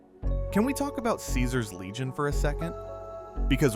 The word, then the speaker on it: Caesar: And the fact that he pronounces Caesar as Kaizar in the classical Latin way is a detail pulled